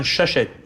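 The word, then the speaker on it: Shusett: Dan O Bannon and I think Ron Shushet, that's the way you pronounce it.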